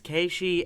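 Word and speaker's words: Keiichi: good you don't say just to correct Bailey's pronunciation it's keishi and uh hinamizawa Nick oh excuse me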